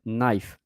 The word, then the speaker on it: knife: But um I try also other word now to say uh to not say knife but knife because the k is silent.